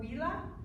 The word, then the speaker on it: villa: So villa is pronounced with the W sound.